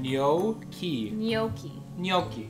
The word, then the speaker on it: gnocchi: doing comedy okay i'm gonna look up the pronunciation of gnocchi it says gnocchi gnocchi good and now we mix it up